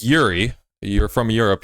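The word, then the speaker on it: Jiří: It's Yuri. You're from Europe. You should know it's pronounced Yuri. The J is silent.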